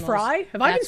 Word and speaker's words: Frey: motans and instead Frey actually pronounced Fry.